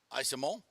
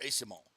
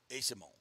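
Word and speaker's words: Eyssimont: Lightning's latest trade breaking in bringing in Michael isomo from San Jose or Asimo sorry Asimo according to the pronunciation guide that's what it is but um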